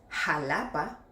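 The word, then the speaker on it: Xalapa: Il y a aussi Oajaca, Texas, Jalapa. Ici il ne faut pas se laisser emporter par l'orthographe : bien qu'il s'écrive avec "x", il faut toujours le prononcer avec "j".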